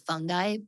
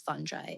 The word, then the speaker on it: fungi: And that is the correct way to pronounce what we've all been saying is fungi, but it is fungi.